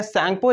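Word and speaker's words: Tsangpo: तो आपको बताना है कि जो तिब्बत की सैंगपो रिवर है, देखो यहाँ पे टी साइलेंट होता है, इसको सैंगपो बोलते हैं।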